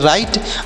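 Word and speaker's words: write: जो लिखा गया है यह डब्लू साइलेंट है मतलब यहां इसका उच्चारण नहीं किया जाएगा तो आर से पढ़ेंगे र और आई से ई होगा और टी ई से टॉ सब पढ के राइट राइट मतलब क्या होता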